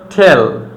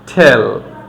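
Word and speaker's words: tell: যেমন হচ্ছে টেল, T double E এল, টেল, time, T আই এম E, time, tension, tender, tend.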